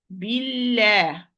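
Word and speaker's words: بالله: So it's going to be light. Billah. La, not below.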